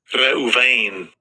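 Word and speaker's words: ראובן: En el hebreo la palabra es en Strong, es H7200 y así se pronuncia. Strong's H7205. Reuven.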